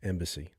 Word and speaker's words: EMBC: marshall are the co-founders of embc pronounced embassy embassy is an interdisciplinary